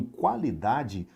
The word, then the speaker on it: qualidade: Veja que o U ele é pronunciado. Nós temos dois sons, qualidade. O U e o A são pronunciados. O Q também é pronunciado.